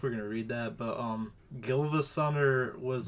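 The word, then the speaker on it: GilvaSunner: But yeah, so it's just, they like baited originally, but then the GivaSunner channel, also this is how it's pronounced. GivaSunner.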